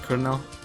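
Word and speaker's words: Cirno: Chirino? See, how do you guys pronounce her name? You say Chirino? Chirino? I just try to go with the Japanese pronunciation, but originally, for some reason, I actually pronounce it with a K.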